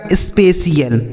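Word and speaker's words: spatial: यह लिखा आपका initial S पी ए टी आई एल तो यह लिखा है देखिए एस से हो गया आधा 100 पी ए से हो गया पे ठीक है और टी आई एल से क्या हो जाएगा सी एल यह लिखा गया आपका स्पेशियल ठीक है इसे पढ़ा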